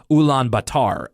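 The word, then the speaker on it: Ulaanbaatar: anglicization of what the country's actual name is ulan batar u-u-l-a-a-n-b-a-t-a-r and it was only recently changed back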